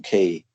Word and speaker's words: Keay: I recommend a huge history of China by John Key. It's called China. John Like Key. That's spelled Keay.